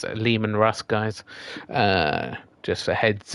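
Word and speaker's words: Leman Russ: um yeah I've seen a lot of people mispronounce it it's Liam and Russ guys uh just a heads up um this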